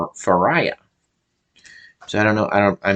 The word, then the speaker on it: Fariah: When I see the name, it looks like it's pronounced Faria, but I think they were pronouncing it. Yeah, I'm pretty sure everyone pronounced this name Faria. But so her name is spelled Fariah. Fariah. So I think they were saying Faria, but it looks